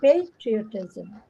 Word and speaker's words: patriotism: now it's different okay so the stresses in the beginning patriotism but the other one